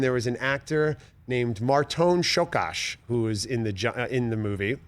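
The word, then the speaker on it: Márton Csókás: "It's Marton Shokash. Learn how to pronounce it." And I was like, I will learn how to pronounce this. Marton Shokash.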